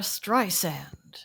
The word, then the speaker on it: Streisand: The audiobook of the year was My Name is Barbara by Barbara Streisand. And that's how you pronounce her name.